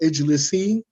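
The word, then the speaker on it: اجلسي: Just drop the noon and pronounce it as it is. Oh, ijlisi.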